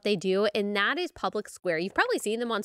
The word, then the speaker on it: Public SQ: It's spelled Public SQ, but you say Public Square, and it will list businesses and services that you're looking for that support the things that you support.